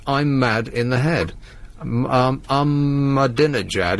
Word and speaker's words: Ahmadinejad: Ahmadinejad is how they pronounce it on the news, but it's spelled I'm mad in the head.